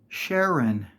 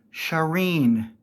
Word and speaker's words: Sharen: name is pronounced Sher just like it looks Sharon it could be spelled with an e n or an o n it's pronounced Sharon not sharen I have heard multiple YouTubers say well we